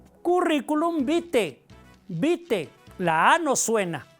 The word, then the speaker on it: vitae: cuando decimos currículum vitae se escribe vitae pero la a no suena no decimos currículum vitae Cómo se pronuncia currículum bite bite la a no